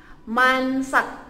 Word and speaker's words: Mansak: Mansak, M-A-N, man, S-A-K-S-A-K.